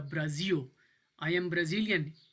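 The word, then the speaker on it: Brasil: इसको आप पढ़ेंगे ब्राज़ियो, ब्राज़ील, एल की आवाज़ नहीं निकालनी है, आपने ओ की आवाज़ निकालनी है। जब भी लफ्ज़ के एंड पे एल आएगा ये आवाज़ ओ की निकालेगा, ब्राज़ियो।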